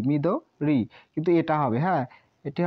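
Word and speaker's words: 緑: নয় number me দ এটা এভাবে দেওয়া আছে হ্যাঁ মিদরি এই উচ্চারণটা হয় মিদরি কিন্তু আমি এটা এখনো আমি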